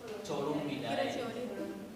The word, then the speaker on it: Columbidae: Columbidae itu dia tulisan COL, Columbidae, Columbidae. Tapi kalau bacanya itu Columbidae.